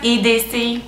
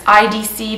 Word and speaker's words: IDC: The brand is French, Quebecois, and therefore in French, the letter I is actually pronounced E. It's very confusing. So the brand's EDC, but if you're English, then it's IDC, but I never say IDC because it's a French brand. So it's the EDC Masque Trilogy.